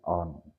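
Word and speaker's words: urn: ठीक है, तो उसको ऑन कहते हैं, ऑन, यू आर एन, उसमें आर जो है वो साइलेंट है, तो उर्दू में इसको कूजा ही कहते हैं।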